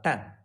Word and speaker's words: 诞: The pronunciation of this character is 蛋。